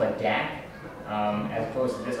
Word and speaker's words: DAC: Lo um so this is always called a Dack um as opposed to this other one which